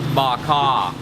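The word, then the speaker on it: bò kho: okay okay okay so the stew is pronounced bak ha she is really really nice here and a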